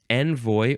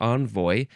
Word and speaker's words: envoi: Next word is, now this is pronounced the same way, envoi or envoy.